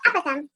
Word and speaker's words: apothem: Apothem, is that how you say it? Yep, apothem.